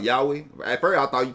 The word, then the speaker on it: Yahweh: How you say it? Cause I'm country here. I know I'm gonna say it wrong. It's called Yahweh. Yahweh. It's Yahweh. Like say it's Yahweh.